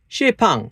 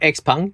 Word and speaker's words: XPeng: Xipeng, or Xpeng, depending on the way you pronounce it, G6, I think it's ugly.